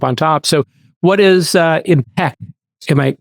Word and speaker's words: EMPEQ: So what is EMPEQ? Am I pronouncing it correct? EMPEQ, yes.